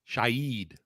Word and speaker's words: Shaheed: Shaheed. So not Shaheed, Shaheed. Gotcha. Which sounds right.